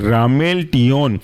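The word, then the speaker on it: ramelteon: है आपका रामेल टिन रामेल आर ए एम ई एल और टियो टी ई ओ एन एक साथ कहलाएंगे रामेल टियन और आखिरी एग्जांपल है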